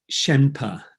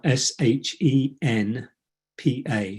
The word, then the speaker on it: Shenpa: And she talks about a Tibetan concept or teaching of Shenpa, and it's spelled Shenpa, Shenpa. It's a nice word, Shenpa.